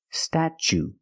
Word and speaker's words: statue: cat sta then we use the CH sound stat statue for the second syllable we use the long u like Boot and moon ooh together statue this is the Statue